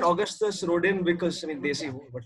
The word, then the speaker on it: Rodin: August Rodin. That I pronounced properly because French.